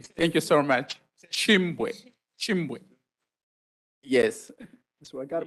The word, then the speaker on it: Chimbwe: They've also been pronouncing it well, so they can help with the with the pronunciation. Thank you so much. Chimbwe.